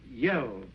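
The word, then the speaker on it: Yehl: was telling was one of their great characters yel you spell that ye h l up in the Northwest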